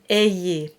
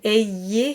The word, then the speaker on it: ayez: And the Y is more than just an E sound. It actually has a bit of a kick to it. It has a bit of a Y to it. So prier just travels between E and A, and ayez has that little kick.